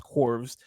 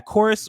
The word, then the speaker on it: Chorus: It's spelt Corvs, but I'm assuming it's pronounced Chorus. Rises. Well, they said Chorus. Like churches. They said Chorus in it.